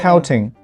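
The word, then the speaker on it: Poating: flagpole, but also the pouting. Oh, yeah. Why it is spelled in P-O-A-T-I-N-G? Well, initially we tried to register the traditional English word pouting.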